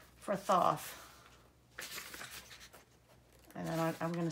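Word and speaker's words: Thoth: was the last one she pronounces it th like sloth so I am going to take that as I can pronounce it that way too and I'm going to pronounce it th from now on uh the the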